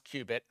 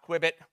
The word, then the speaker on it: qubit: First, we tell them, you know, how to pronounce qubit. It's not quibit, but they do have to sort of get their heads around it.